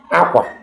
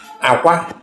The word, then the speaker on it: akwa: Akwa. Akwa, it means bed. Akwa. Akwa, it means cry. Aja. Aja, it means sacrifice. Aja. Aja, it means soil. So, the pronunciation of these words determines the meaning.